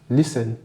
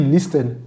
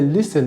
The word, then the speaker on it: listen: se passe la PR va le dire correctement listen et ensuite vous allez écrire au tableau écoutez c'est listen Et voir le T et subitement il chante la prononciation il dit listen non c'est pas listen C'est listen le thé n'est pas prononcé pourquoi il a